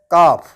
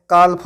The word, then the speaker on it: calf: इस वर्ड में भी ए के बाद एल आया है, एल साइलेंट होता है। इस वर्ड को मैंने काल्फ नहीं पढ़ा है, इस वर्ड को मैंने पढ़ा है काफ।